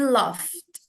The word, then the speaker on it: laugh: L kayak F pakai F. Laughed. Terus ini kan ada id-nya jadi laughed. Laugh. Laugh. Masih ingat cara baca yang ini? Yang perempuannya? Laugh. Laugh. Laugh. Laugh. Laugh. GH-nya tuh Laugh. jadi F gitu.